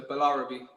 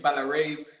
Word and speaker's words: Balarabe: pronounce your last name you actually said it right you just literally pronounced every letter so balarubi is perfect okay awesome because i